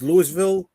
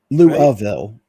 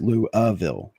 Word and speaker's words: Louisville: It's Lewisville, right? It's thin. Louville is actually how it's pronounced. Louville.